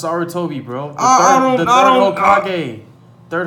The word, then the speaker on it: Sarutobi: How you not know how to pronounce Sarutobi, bro?